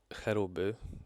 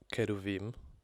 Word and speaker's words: cherubim: The next creatures we have are the cherubim, pronounced Keruvim. Well, I hope that's how it's pronounced.